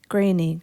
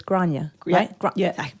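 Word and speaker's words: Gráinne: pronounce for me because I look at it and I think granny granny granny is it granny a granny but it's granya we do it so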